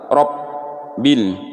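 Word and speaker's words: رب: Nah, ba-nya ini keseringan orang bacanya tuh seperti huruf fa. Rob masuk ke huruf fa. Nah, ini fatal ya, harus masuk ke huruf ba. Kalau huruf fa ini bibirnya tidak bergetar, Robbil.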